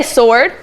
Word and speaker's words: sword: Everybody say sword. Sword. So when you're reading the word sword, you do not hear the w sound in that word. The w is silent.